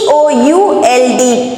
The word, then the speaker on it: could: BUT but, HE he, COULD could. Now children, COULD, it is not could. Okay, it is could. The L is silent here.